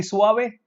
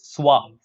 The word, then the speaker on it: suave: is so are we will it be Swami no it's suave see it's clearly given